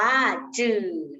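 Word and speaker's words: 纸: ที่ 1 นะ คะ คำ ที่ 1 อ่าน ว่า จื่อ นะ คะ จื่อ ที่ แปล ว่า กระดาษ นะ คะ ให้ นัก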